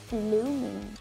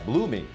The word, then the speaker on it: Blueming: you Pop's friends, I decided to choose IU's Blooming. Yeah, Blooming. It's spelled B-L-U-E-M-I-N-G, right?